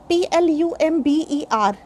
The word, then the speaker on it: plumber: In these words, b is silent. For example, Plumber. We don't say plumber. Generally we say plumber, but in our day-to-day language, this is generally acceptable because language is just